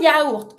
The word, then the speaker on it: yaourt: Je mange un yaourt, a yogurt. Un yaourt. In this word, you pronounce every letter.